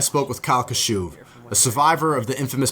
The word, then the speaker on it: Kashuv: on the phone i'm on facetime with kyle kashuv how do you say your last name because